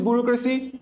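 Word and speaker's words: bureaucracy: তাহলে বুড়ো না পড়ে তো বুড়ে, বুড়ে। তারপরে লেখো আউ, তারপরে লেখো CRACY, এটা নিয়ে সমস্যা নাই, ক্রেসি। তাহলে আমি কিভাবে উচ্চারণ করছি ব্যুরোক্রেসি? বুড়ে আউ ক্রেসি, বুড়ে আউ ক্রেসি।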